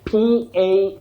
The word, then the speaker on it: palmist: Anyway, the next word, P-A-L-M-I-S-T. The L in that word is not pronounced, dear viewers. You say palmist, a palmist, not palmist, the way we always say.